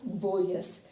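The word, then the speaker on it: Borges: So here Boyes, here G is silent, you need to pronounce it as Boyes by Roberto Alfano.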